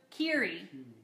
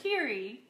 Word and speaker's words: Kiri: Okay, so it's pronounced like Eerie. So Kiri. Yes? Thank you for correcting me. I would much rather be corrected so that you don't sit there cringing every time I say your name wrong. Please let me know. Like Cheery, so Kiri.